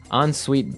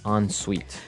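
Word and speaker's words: en suite: So even though it's E N, we pronounce it like an O N. Yep. On suite.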